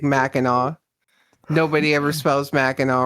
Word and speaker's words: Mackinac: I say Mackinac and then correct myself to Mackinac halfway through the word.